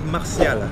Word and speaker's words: Martial: Anthony Martial. Martial. Le T, ça se prononce comme un S. S. Dans le nom.